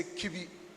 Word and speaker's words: Kibi: to the English lingua, we say Kibi, permit us to say so. So it rhymes with everybody.